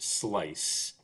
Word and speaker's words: SLICE: Service Learning and Community Engagement, pronounced SLICE, programmatically pursues growth in